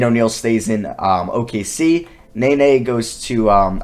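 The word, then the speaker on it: Nenê: stays in um okc nene goes to um i always thought it was in the name but it's nae nae technically you pronounce it he stays in new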